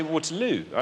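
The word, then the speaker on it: Waterloo: l no I say water L and that's where I I like I choose to put my stress there waterl on the third syllable think about the chorus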